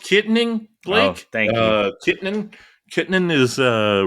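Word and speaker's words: Kittanning: Yeah, it's pronounced Kittening Blake.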